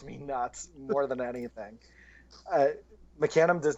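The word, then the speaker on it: Mecanum: up in New England where it was always Meccan um when I moved out to Indiana I was very quickly corrected that it's mecanim and there is no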